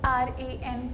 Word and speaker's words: RAN: Garima, how do you pronounce the name of your school? Sir, it is RAN Public School.